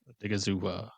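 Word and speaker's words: Odighizuwa: Yeah, we should all take a chance at pronouncing his name. Osa something. Osa like Odigizua. Yeah. Odigizua.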